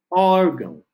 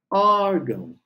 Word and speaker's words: órgão: final o outro exemplo órgão órgão ó ó é a sílaba tônica ela vem logo antes da terminação com a ótimo então eu só preciso